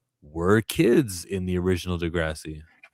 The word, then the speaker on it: Degrassi: He mispronounced Degrassi. Degenerous.